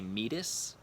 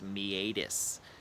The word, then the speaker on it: meatus: so a me ADIS some people say meatus but more medical professionals do pronounce that word as me ADIS bones have to interact